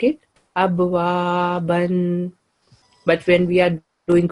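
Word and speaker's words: أبوابًا: 9, rule of work, that this tanween of fatha will change into fatha with alif and will be pronounced in place of tanween. Okay. So like it, abwaban will change into abwaba.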